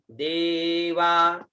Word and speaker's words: देवा: उसके बाद में आता है दे और वा, ठीक है, देवा जदि यज्ञन्यन्तन्वाना आबध्नन् पुरुखम पशुम। अब इसका उच्चारण देखिए, पहला शब्द है देवा।